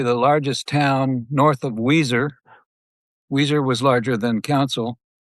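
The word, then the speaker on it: Weiser: area of Idaho and it is not spelled like the band Weezer, which happens to be one of my favorite bands. It's spelled a bit differently than that.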